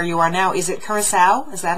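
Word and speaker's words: Curaçao: Is it Curacao? Is that how you pronounce where you guys are? It's Curacao, yep.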